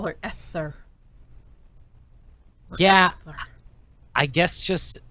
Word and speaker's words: Esther: Are you saying Escher or Esther? It should be Esther. I always say Escher because of the way it's spelled. And in my head, as a little kid, I read it as Escher, even though adults were saying Esther.